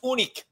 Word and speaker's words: Unick: It's pronounced Unick. Yeah. Everybody knows that. Unick. There's no umlaut over it.